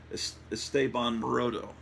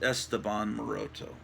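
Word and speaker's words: Esteban Maroto: this wonderful art by estaban morodo I used to pronounce it Esteban moroto I think it's it's basically the Spanish name for Stephen is estaban at least that's what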